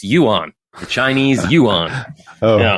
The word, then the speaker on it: yuan: Yeah, I also looked up the pronunciation. It's yuan, the Chinese yuan.